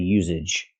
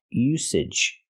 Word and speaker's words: usage: I cannot say now to the usage. The usage, the word is pronounced usage. We have to use the S sound. S, no voice. S, usage. Like star and sleep. Usage.